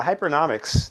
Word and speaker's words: Hypernomics: uh to everyone yeah uh hyperic that's how we pronounce it is a a